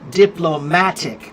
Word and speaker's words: diplomatic: Diplomatic. That's on the third syllable.